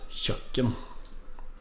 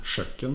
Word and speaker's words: kjøkken: finint kjøkken eller hva det uttales kjøkken ikke kjøkken men kjøkken kjøkken Kjøkken Her sitter